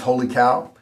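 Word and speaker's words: Wholly Kaw: The last one in the expensive category is Holy Cow. It's spelled weird.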